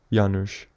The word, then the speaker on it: Janusz: Janusz. Two syllables that rise and fall and follow each other